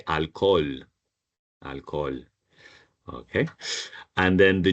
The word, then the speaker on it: alcohol: The H is the only letter that we don't pronounce in Spanish.